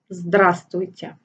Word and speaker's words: Здравствуйте: Note that the first letter V is silent, so you say «Здравствуйте».